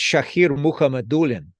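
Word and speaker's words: Shakir Mukhamadullin: Timo Meyer trade that's shahir muhammadulin and again the accent on the second to last syllable um he's an interesting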